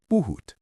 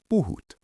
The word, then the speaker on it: puhut: The word for you speak is buut. Say it with me. Buhoot.